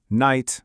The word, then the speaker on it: night: After a vowel, it usually just goes silent, but its presence is a big clue that the vowel sound is long. Look at these. Night, light, high.